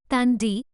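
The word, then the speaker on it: Thandie: 14 उसने अपने पहले नाम से W अक्षर को हटाना शुरू कर दिया, जिससे ये थैंडी उच्चारण TENDI तंडी हो गया।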